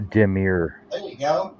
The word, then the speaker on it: demure: I looked it up the demure like Demi or more always Demi Moore damir reserved modest and